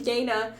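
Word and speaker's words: Yeine: pronounce it okay and in my head I always pronounce it like y or Y or I did too until I I think it was either in the does the audio book pronounce it that way I think the first time I listened to the audio book um they don't spell it out they just immediately go hi my name's Yana and I'm like okay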